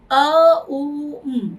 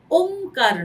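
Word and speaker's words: ওঁকার: প্রথম হচ্ছে আ উ অর্থাৎ ওংকার এই উচ্চারণটাকে ভালোভাবে করা। এটা ওমকার নয় বা ওংকার নয়। অনেকে এই প্রনাউন্সিয়েশনটা ভুল করেন। তো সুতরাং উচ্চারণ হচ্ছে এ ইউ এম।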